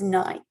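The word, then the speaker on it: knight: Now your K here is silent, so you only hear that N. That word is night.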